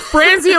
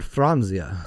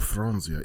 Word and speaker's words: Franzia: DO YOU KNOW FRANIA WON 500 AWARDS, but they count every award on every box, so it doesn't matter who won it.